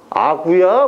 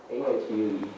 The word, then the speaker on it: argue: 아구야? 뭐? 아구야, 뭐야? A-R-G-U-E.